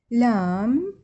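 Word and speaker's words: lamb: الامثله ما ننطقه ايش وقت ما ننطقه اذا اجى قبل حرف الام هذا الام تمام مثل كلايم الاي ام السلق كلايم هذا البئء ما نلفظه لام يعني حمل او لحم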